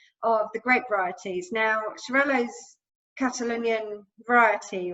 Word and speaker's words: Xarel·lo: Yeah, and what I learned from my holidays in Barcelona was that when they've got the dot, you pronounce the L's, the double L's, but if they don't have the dot, then it's absolutely.